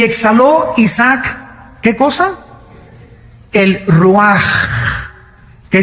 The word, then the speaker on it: ruach: El Ruaj. que se escribe r u a c h ruach en el hebreo y se pronuncia igual ruaj.